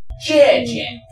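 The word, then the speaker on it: 姐姐: Jie Jie. Be careful of the tone. If you change the tone, it actually changes the meaning.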